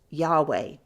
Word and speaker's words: Yahweh: But since an I equals a Y and a U equals a W, Yahu would be pronounced Yahweh.